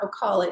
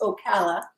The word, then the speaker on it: Ocala: corrected at the pronunciation it's not ocala it's ocala i kayaked there and then